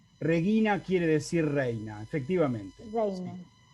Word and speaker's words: regina: el acento un segundito en regina no hay ningún acento porque no hay acentos en latín y acá simplemente el diccionario me va a marcar que la i es larga que dura los tiempos según la regla que acabamos de ver si la penúltima vocal de la penúltima sílaba es larga el acento cae ahí así es el asunto en